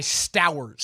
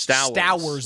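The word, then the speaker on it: Stowers: Eli Stoers, I believe. Mhm. I like the St. Clair tight end out of Ohio State. or sorry, Eli Sters. Sters is rhymes with Bowowers.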